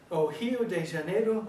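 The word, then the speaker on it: Rio de Janeiro: in the airport in Rio de Rio Deano Brazil now I can hardly say it they pronounce it oh de janeo Brazil I had my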